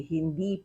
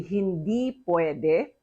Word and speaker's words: hindi: So you say hindi puede. Now, 2 points on pronunciation.